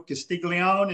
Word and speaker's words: Castiglione: and i'm gonna butcher joe's last name joe castiglione is that how you pronounce it yeah you got it right i